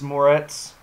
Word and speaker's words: Moretz: final trend for this evening is Chloe grace Moretz is that how you say it yeah or